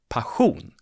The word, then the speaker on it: passion: have a related spelling in the word pahoon passion almost sounds the same pang hoon and pachun all right and here it's